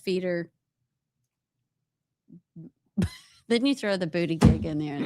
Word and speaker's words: Buttigieg: You didn't say his name right. Remember what our Buttigieg? booty gig? That's what our friend SB calls him. Buttigieg. Booty gig. So call it correctly. Pete Booty gig.